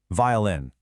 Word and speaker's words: violin: And hey, notice the stress on words like guitar and violin. Honestly, getting that syllable stress right makes a huge difference in sounding fluent.